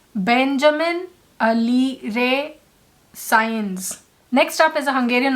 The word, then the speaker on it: Sáenz: It took me a while to pronounce this because I used to pronounce it as Sainz or Alir. So I went to YouTube, I tried to look up these names, and I finally hit on the right pronunciation. It is Benjamin, which we know it's a pretty common name. Benjamin Alire Science.